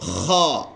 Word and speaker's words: خ: اگلے دوسری لائن میں پہلا ورڈ ہے خا. خا خا. یہ بھی گلے سے ادا پر تھوڑا سا آواز کو مسل کر کے رگڑ کر کے یا نچوڑ کر کے اس طرح